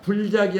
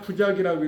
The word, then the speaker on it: 부작: 술은 서술했다는 뜻이고 작은 창작했다는 얘기, 창작한다는 얘기니까 부작이니까 불작이 아니라 부작이라고 읽으셔야 되고, 부작은 뭐냐면 창작하지 않는다.